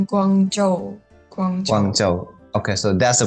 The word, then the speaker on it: Guangzhou: Is it like Guangzhou? Guangzhou. Guangzhou. Okay, so that's the pronunciation, yeah, because I'm not good at Mandarin.